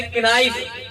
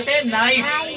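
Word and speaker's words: knife: यहां पर देखो एफ तो बोला जा रहा है बट के नहीं बोला जा रहा, साइलेंट है के। बहुत से बच्चे से पढ़ेंगे किनाइफ, पढ़ रहे हो ना किनाइफ, तो किनाइफ नहीं पढ़ेंगे, यहाँ पढ़ेंगे से नाइफ।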